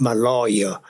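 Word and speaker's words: Maloja: the SS maloa Malia m a l o j a is pronounced my lawyer it was a piano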